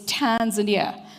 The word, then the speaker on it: Tanzania: adapt wwf's T Tanzania I always say that people must say Tanzania it's Tanzania so I'm trying to